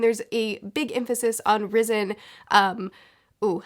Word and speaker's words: Rysn: I actually don't know how to say her name correctly. I think it's Risen, which I was really happy